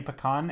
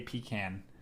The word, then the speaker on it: pecan: lot of people say pecan and then a lot of people will say pecan I think it depends on on where you grew up the con has